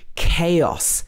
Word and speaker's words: chaos: could get confused here chaos this is a word that is often pronounced wrong it's not chaos or cause it should be chaos chaos also echo echo